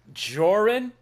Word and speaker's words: Joran: Pronounce my name again, Precious. Joy, is that how you say it? Jun, I love I love how that sounds in your accent. Very cool. Uh, I go with Joran.